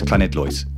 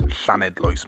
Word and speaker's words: Llanidloes: in a Welsh town that I pronounce incorrectly as Llanidloes. It's Llanidloes, mate, not Llanidloes.